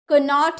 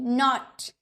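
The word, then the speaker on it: knot: knowledge बोलेंगे नहीं ना क्योंकि यहां तो के साइलेंट है इसीलिए नॉलेज ज्ञान नॉट कन नॉट नहीं नॉट यानी कि गाठ एन से पहले अगर आपका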